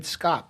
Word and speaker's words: Scopp: Hi, welcome to another edition of the Trustcast Show, and we're really happy to have with us David Scopp. Did I pronounce that correctly, David?